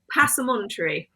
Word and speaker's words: Passementerie: I can't actually pronounce it the proper way. Passementerie.